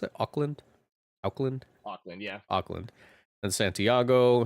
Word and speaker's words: Auckland: Do you pronounce it Auckland?